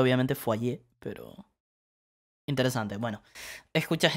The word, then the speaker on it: foyer: cómo se pronuncia porque es una palabra rara fire supongo bien el francés esta palabra soy ahí porque esta pronunciación es muy rara francés casa fue allí aunque aquí se pronuncia obviamente fue allí pero interesante es bueno escuchar eso parece ser